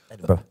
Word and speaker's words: Edinburgh: By the way, Edinburgh, not bad. I've been there once. They corrected me more than once. Edinburgh, exactly.